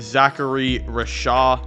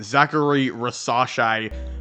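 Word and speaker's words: Zaccharie Risacher: I do have them taking Zachary Rasha hold on scratch that I definitely mispronounced his name Zachary rasas I should say again there's a lot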